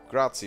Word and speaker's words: grazie: and a loony, saying, I think it's pronounced grazie, right? Even though there's no T in there, I think it sounds like a T.